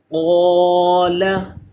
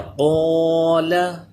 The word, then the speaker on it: قال: اللہ الرحمن الرحیم۔ جی، قال، اب دیکھیے یہ الف اس سے پہلے حروف مستعلیہ آ گیا ہے، اس لیے یہ اصول ہم نے پڑھا ہے کہ الف سے پہلے پر پڑھا جانے والا حرف ہو تو الف بھی پر ہوگا، یہاں پہ الف پر ہو گیا، قال۔ اسی طرح صراط، یہ را پر ہوگا، کیوں؟